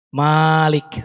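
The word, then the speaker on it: مالك: Yang pertama mimnya panjang. Malik. Seperti di surat Al-Fatihah. Di Indonesia biasanya membacanya mimnya panjang kan. Maliki yaumiddin. Tapi bacaan yang kedua yang semuanya sahih dari Nabi, mimnya boleh pendek. Khusus untuk Al-Fatihah mimnya boleh pendek, boleh panjang.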